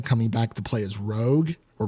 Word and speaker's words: Rogue: It's in Lenore Zan coming back to play as Rogue or Rouge, however you want to pronounce it.